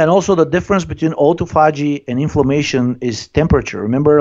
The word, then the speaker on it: autophagy: Autophagy or? Yeah, autophagy.